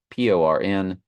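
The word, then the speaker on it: πορνεύω: It's Porneuo. Strong's G 4203. Porneuo. Porneuo. And you see the pronunciation PORN-YOO-O. So you see the word porn even in the pronunciation, and you see the word porn in the description.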